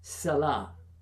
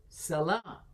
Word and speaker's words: salah: But if you say salah, yeah, that's a stop without the T.